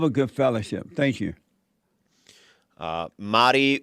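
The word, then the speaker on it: Mari: Spelled M-A-R-I, but pronounced as if there's D's for some reason.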